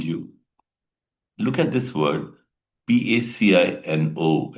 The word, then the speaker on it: Pacino: Actually it is pronounced as Pacino. He had given a speech on inch by inch in 1999. Once again that's pronounced pacino not pino it's pacina you have to pronounce it this way.